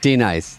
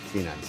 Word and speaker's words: Denise: D-nice. It just goes wham, wham, wham, wham. And then she finally goes, D-nice.